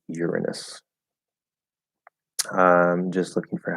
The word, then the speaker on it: Uranus: And that last one is a technicality because it used to be pronounced Uranus, and then that became a joke because it sounds like your anus, and so they changed the pronunciation to Uranus. I'm pretty sure that's how that went. But anyway, yeah, it's supposed to be Uranus.